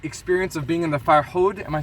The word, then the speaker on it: Farhud: My dad's going to speak a little bit about the experience of being in the Farhud. Am I saying it right? Farhud?